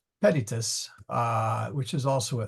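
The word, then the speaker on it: pedites: and the plural is pedatus sorry p yeah uh pedius sorry emphasis on the wrong salable pedius uh which is also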